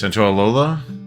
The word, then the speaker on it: Santaolalla: Santaolalla.